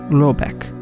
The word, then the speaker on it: Rabeck: The manor house, or herrgård, in question is to be called Rabeck, pronounced something like Robeck, though that is not its name.